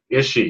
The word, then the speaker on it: Ische: is will ish well your last name please pronounce it function is she yes someone corrected me and I've known you